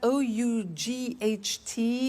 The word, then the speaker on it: ought: to the pronunciation by bought you notice that o-u-g-h-t is pronounced ought by bought come came do did